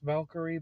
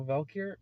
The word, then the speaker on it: Valkyr: who were on an experimental drug known as Valkyr, I believe it's pronounced. It's just Valkyrie, but without the Cree. So Valkyr, or no, without the Re.